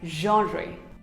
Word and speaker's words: genre: It is not genre, not even genre. It is pronounced as genre.